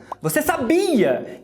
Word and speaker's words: sabiá: E quando eu vou falar do passarinho, eu jogo a tônica no último A.